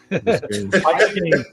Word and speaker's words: Biscayne: But how you pronounce Biscayne? Biscayne.